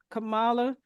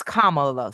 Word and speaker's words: Kamala: that come November when Camala I keep saying her name wrong did I say her name right um I've been told that it's Kamala so like a and then comma yeah I keep saying